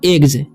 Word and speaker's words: eggs: तो देखिए इसमें नियम में क्या कह रहा है, GG के बाद भी अगर S रहता है तो उसका उच्चारण ज होता है जब लास्ट में। ठीक है, तो इसे पढ़ेंगे हम एग्स।